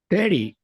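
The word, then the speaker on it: thirty: 30. 30. 30. Yes, correct. So in this case, the stress syllable goes in te, 30, right?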